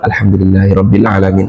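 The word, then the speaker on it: الحمد لله رب العالمين: Alhamdulillahi rabbil alamin. Enak kayaknya, Pak. Tapi di mulut semua, enggak ada di sini. Alhamdulillahi rabbil alamin. Kalau kita baca salat asar, alhamdulillahirabbil alamin.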